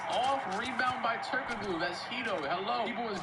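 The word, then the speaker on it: Türkoğlu: me some weeks ago when I was pronouncing Turkoglu as Turkoglu because you're not supposed to pronounce a G, but I don't care. That's how his name is spelled.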